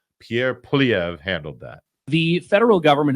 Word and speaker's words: Poilievre: one of our favorites Pierre PV that's right I pronounced it correctly I had promised earlier